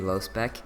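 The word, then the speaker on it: Lospec: Well, how do you pronounce low spec? Okay, so it is actually low spec.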